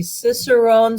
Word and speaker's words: Cicerone: says is the and I'm not going to pronounce it right this right is the Cicerone certificate important in hosting tastings or any other